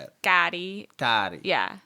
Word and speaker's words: Kari: R-I. Hard R. It's Right. like, it's Spanish pronunciation for white people.